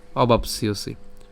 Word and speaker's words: অবাপ্স্যসি: এখন এখানে যে জফলা আছে, জফলা উচ্চারণ কার মতো হবে, ইয়র মতো হবে, এবং দন্তাস্বর ও শিকার একসাথে মিলিত হয়ে ইয়সি।